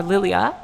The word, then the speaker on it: Lilja: couple of different pronunciations Lilja as I was saying is actually pronounced more lilia so that's fine that's